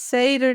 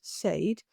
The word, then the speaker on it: Seiðr: Well, okay, first Seder then, which is an Icelandic word. Seder. Also, all the Scandinavian languages, they say it slightly differently. So there's not one only and correct pronunciation. But in Mm. Old Norse, Fornsider, in Icelandic, Seder, and in modern Swedish, Seid, um, is a practice.